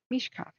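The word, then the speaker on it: Mischkaffee: Mishkafi? How do you say that? Mish coffee.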